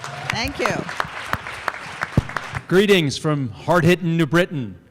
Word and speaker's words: New Britain: Greetings from hard-hitting New Britain, where we know you're not a local if you pronounce the T.